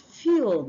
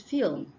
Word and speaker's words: film: the next one is film you used to say fil it's film why the next word